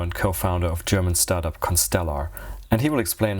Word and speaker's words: ConstellR: not sure whether it's is it constellar or constella or how do you pronounce it whatever you like it to be but it's constellar that's at least what we say okay now we know